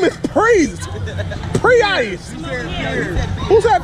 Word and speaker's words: Preice: My name is Priest. Pre-Ice. Who's that peers? He called me peers? All right, y'all, listen. My name is Priest, not peers.